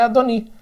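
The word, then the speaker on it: אֲדֹנִי: Só que, na verdade, sem sinais maçoréticos, essa expressão aqui é Adoni. Tá? Adoni, que é meu Senhor.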